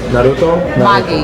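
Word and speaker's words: narutomaki: Naruto? Magi? Magi. Naruto Magi.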